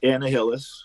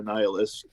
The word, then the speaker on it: Annihilus: That's Annihilus or Annihilus, depending on how you want to pronounce it.